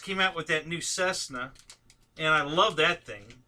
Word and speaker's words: Cessna: now hsd just came out with that new Cessna and I love that thing have you guys